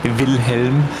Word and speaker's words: Wilhelm: Is it Willem? Is that how you pronounce that, Florian? Correct pronunciation would be Wilhelm.